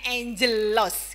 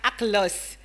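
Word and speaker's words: ἄγγελος: Kalau AGGLOS, kalau bahasa Yunani dibacanya angelos gitu ya, bukan aglos.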